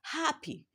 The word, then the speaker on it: happy: Then in the word happy, which is an adjective, happy, the syllable ha is stressed, which is the first syllable, while the syllable p is not stressed.